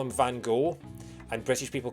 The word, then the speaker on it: Van Gogh: Apparently, the correct pronunciation, according to Dutch people, is Van Gogh. Apparently, both G's are kind of like a sound, like the Scottish loch. So Vincent van Gogh is how you're supposed to pronounce his name.